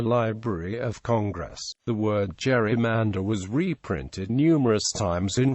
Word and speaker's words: gerrymander: Since the letter G of the eponymous Gerry is pronounced, as in go, the word gerrymander was originally pronounced rymander. However, pronunciation as gerrymander with a d, as in gentle, has become the accepted pronunciation.